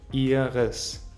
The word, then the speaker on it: ihres: Ihres im Genitiv mit e-schwa am Ende. Ihres.